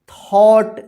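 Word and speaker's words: thought: a long time Narayan थट देखि टी एच ओ यू जी एच टी थॉट पढ़ेंगे इसको जीच यहां पर जो है ना साइलेंट रहता है ठीक है थॉट ट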